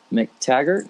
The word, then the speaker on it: McTaggart: guest today as well so we've got Amelia McTaggart is that how you pronounce your last name yes it's had a